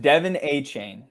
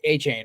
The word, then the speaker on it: Achane: So it's pronounced Devin Achane. Devin Achane. All right, Achane.